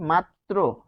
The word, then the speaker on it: মাত্র: করবে কিন্তু নিজেও থাকবে কিরকম আমরা যদি দেখি মাত্র মাত্র দেখুন র এর উচ্চারণটা থেকে যাচ্ছে মাত্র তারপর আমরা লিখছি যে